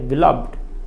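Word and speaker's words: beloved: तो बिलविड यदि उसका प्रयोग नाउन के पहले हो तो बिलव्ड उसका उच्चारण नहीं करते हैं, उसका उच्चारण करते हैं बिलविड।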